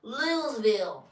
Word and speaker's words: Louisville: what what city do we live in uh louville say it say it project it how do you say it Louisville that's good Louis Louisville you've been here long